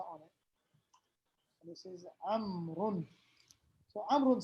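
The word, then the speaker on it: عمرو: He says, Amr says, Afwan, Amr or Umar? Amr. Amru, how do you say his name? Amrun. Barakallah fi. Amrun. So what's the law doing there? Did we read it? No, it's just to show that it's not Umar.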